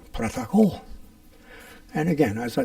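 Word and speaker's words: протокол: has in English, and it's pronounced a little differently. It's protokol.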